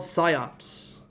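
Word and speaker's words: PSYOP: in Army SCOP recruitment, SCOP is spelled P S YOP P.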